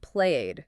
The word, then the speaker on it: played: I played video games. And again, it's one syllable, not played, just played.